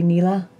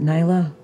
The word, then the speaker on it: Nila: Would you happen to be Nila? Or is it Nyla? Am I pronouncing it's that wrong? It was Nila. It was Nila? Yeah. Nila. You had it right the first time.